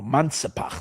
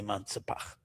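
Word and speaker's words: מנצפ״ך: Or Mansapach, some people. Someone was telling me I'm saying it wrong. I said, then I would say Menatzpach. He says Mansapach. Okay, let it be Mansapach. Mem, Nun, Tzadik, Pei, Chaf.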